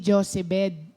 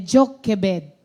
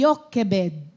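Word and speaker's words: Jochebed: Ayan ang pagbigkas pala niyan. Hindi Josebet. Hindi Josebet. Hindi si Sister Josebet. Ang pangalan ng nanay ni Moses ay Jokebed. Ah oo. Sa Hebrew kasi Yokebed. Oo. Pero dito Jokebed.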